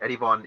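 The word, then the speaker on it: Erivan: eddie van gaal right eddie von is the muslim pronunciation of yerevan which is the main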